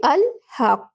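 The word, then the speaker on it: al-haqq: But if we start the word alone, we pronounce her and say al haqq.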